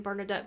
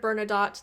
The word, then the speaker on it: Bernadotte: napoleon occupied swedish pomerania i heard the bernadotte there i know a lot i was mispronouncing that and saying bernadette because for some reason that's what it sounded like in the other videos but i clearly heard